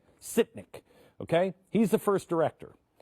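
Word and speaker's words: Sytnyk: guy artem how do you say his name sitnik okay he's the first director and what's great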